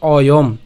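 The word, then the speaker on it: অয়ম্: এরপরে অর্ধমাত্রা যে হ আছে, এটা অর্ধমাত্রার হ হবে এখানে। তো অর্ধমাত্রা হয় উচ্চারণ কার মতো হয়? অয়ের মতো হয়। তাহলে অয়ের মতো যদি হয় তাহলে উচ্চারণটা কেমন হবে? অয়ম, অর্থাৎ আমরা হসন্ত পর্যন্ত উচ্চারণ করছি, ঠিক আছে?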